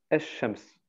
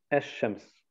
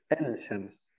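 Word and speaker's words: الشمس: Also der L wird nicht ausgesprochen. Wie zum Beispiel Sonne. Es-Shams, die Sonne. Es-Shams. Okay? Man sagt nicht El-Shams.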